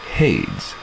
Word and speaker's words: Hades: It's Hades. As it rhymes with shades.